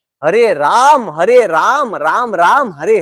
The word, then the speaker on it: राम: Okay, हरे रामा, रामा रामा, हरे हरे, हरे रामो, ऐसा नहीं है. वो जीपीसी स्टैंडर्ड के हिसाब से हरे राम, हरे राम, राम राम, हरे हरे, वो अलग ही मंत्र चल रहा है।